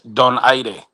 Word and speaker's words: Donaire: it's Don Aire.